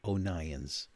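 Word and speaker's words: O'Nions: the internet he's from the uk steve o'nyan's it's spelled o apostrophe n i o s steve onions this guy is such a great photographer he'll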